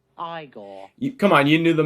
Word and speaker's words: Igor: For the New York Rangers, it's Igor Shesterkin. No, it's pronounced Igor.